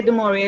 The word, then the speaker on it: DeMaurier: You know, when I say DeMaurier, it sounds like the DuMaurier, you know, the cigarette.